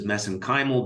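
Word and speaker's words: mesenchymal: which I pronounce as messen kimal because that's how they pronounce it in Ireland I know there's other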